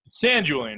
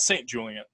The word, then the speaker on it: San Julian: winery correct yes right San Julian right not st. Julian st.